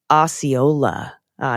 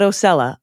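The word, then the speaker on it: Osceola: uh that you mentioned on Thursday's episode It's pronounced Oola H not osella aola levosa county is what I'm going to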